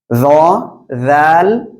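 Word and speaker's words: ذال: তাহলে এই অক্ষরটা কি জ্লিয়ার আপনি ওকে এখন আমরা এর পরবর্তী অক্ষরটি শিখবো ইনশাআল্লাহ ঠিক আছে দেখেন এই যে অক্ষরটি এই অক্ষরটি কি জাল জিহ্বার আগা এই উপরের দুই দাঁতের আগার সাথে লাগান লাগান লাগান এবার উচ্চারণ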